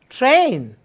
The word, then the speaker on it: train: Must pronounce the last sound as well.